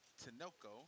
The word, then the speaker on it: Tinoco: I believe that's Tinoco. That's how you pronounce his last name.